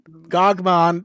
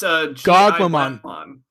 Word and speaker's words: Gogmamon: there, and then like Gogmon, they didn't. I never say his name right. It's Gogmamon.